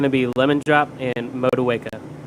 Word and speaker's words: Motueka: It's going to be lemon drop and Motueka. Motueka, excellent. Okay. Thank you for the Excellent.